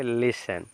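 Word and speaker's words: listen: क्या है आपका न तो जब टी के जस्ट बाद अगर न होगा तो टी यहां पर साइलेंट हो जाएगा क्या हो जाएगा टी टी आपका साइलेंट लेटर टी आपका कट जाएगा ठीक है ना तो टी कट जाएगा इसको पढ़ेंगे क्या पढ़ेंगे लिसन लिसन लिसन मींस होता है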